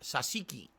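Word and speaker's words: tzatziki: no surprise that you like this food it's pronounced sasiki sasiki sauce the yogurt cucumber sauce um oh that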